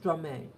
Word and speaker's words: Stromae: It's pronounced Stromae.